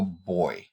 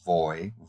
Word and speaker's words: voy: so you say yo boy yo boy so this means I go and notice that the V is pronounced like an English b as in bus some people use it